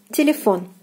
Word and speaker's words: телефон: Телефон, телефон. O is stressed here, and the translation you can probably guess, it means telephone. Телефон.